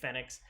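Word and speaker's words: Fenyx: was immortal phoenix rising i'm gonna keep saying fenix uh just because they spell it funny with uh f-e-n-y-x but immortal phoenix rising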